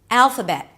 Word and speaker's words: Alphabet: Alphabet. Guess what? We begin with the A as in cat here as well. But then we move on to the dark L.